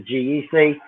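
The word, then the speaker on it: GEGEC: here's a question that oh yeah it's a geck yeah it turns out that g-e-g-e-c is actually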